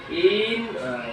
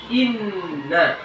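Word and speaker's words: إنّ: Kemudian dalam harakah ya, memanjangkan harakah pendek, misalnya inna, dibacanya menjadi in, nggak boleh ya. Itu sudah menyalahi in, jadi itu sudah menyalahi. Yang benar inna, jelas, bukan in, itu nggak boleh.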